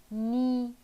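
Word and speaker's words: ניסע: In terms of letters, you are right. The music is nisa.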